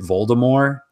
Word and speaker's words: Voldemort: a movie and so he still pronounces it Volda more instead of Voldemort like the movie yeah kind of added the T but he does a